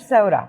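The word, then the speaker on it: bresaola: Alors, Breza Brizaola, on prononce Bzaola.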